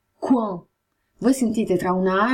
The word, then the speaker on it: coin: O, a U si legge U, coin, OI si legge UA, coin.